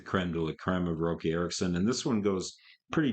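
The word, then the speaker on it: Roky Erickson: the whole story so rookie Erickson her Rocky Erickson I guess is how he pronounces his name I keep saying rookie because it's spelled without a c but it's actually Rocky Erickson r-o-k-y but it's pronounced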